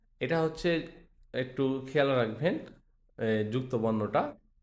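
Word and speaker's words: じゃ: জিয়া হওয়ার কথা ছিল কিন্তু জিয়া হবে না উচ্চারণটা হবে যা যা যা জু জ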